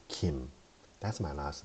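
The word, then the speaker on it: 김: And this G in a girl is exactly how Kim was supposed to be pronounced. That's why in Korea, we say Kim.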